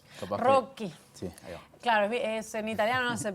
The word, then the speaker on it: Rocchi: que invitamos a uno de sus directores a conversar con nosotros bienvenido en mi apellido es Rocky Rocky Claro en italiano no se pronuncia rock y